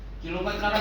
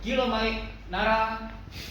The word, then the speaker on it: Kilo Mike: Ya, jangan pengucapannya kilomet nara kilomet nara kilomet nara tetap harus ada artikulasi ya intonasi ya kan. Jadi kilo mic nara kilo mic nara kilo mic nara.